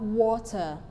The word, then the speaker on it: water: bowdened so we have water so we have two syllables in water so the stress level is in wa while the unstressed level is ter water another example is danger